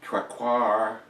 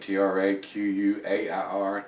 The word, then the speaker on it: Traquair: So, if you've had this one, and like I said, I'm probably butchering after the letter, Traquair is how I pronounce it, Traquair, Traquair House Ale.